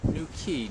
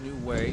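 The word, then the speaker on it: New Quay: This is where Dylan Thomas wrote some New Key, not New Way, New Key.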